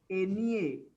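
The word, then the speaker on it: eñe: N with a tilde is pronounced as NEA. Remember NEA.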